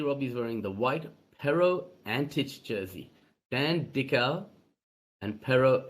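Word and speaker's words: Antić: So, officially pronounced Antic, just for those sort of wondering. So, you just hear a few variations.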